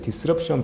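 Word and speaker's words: disruption: 다음은 이제 파드 디스럽션 버전, 디스트럽션이 아니고 그냥 디스럽션 버전인데 제 영어 발음이 이렇게 분명해서 이번에 안 좋은데 디스럽션은 파드 이제 분배 예산 정도로 예상할 번역을 할 수 있는데요.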